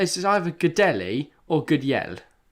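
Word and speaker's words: Gudelj: J, in not how you spell it, it's different. Like you say yell, say it J like Y in that yell.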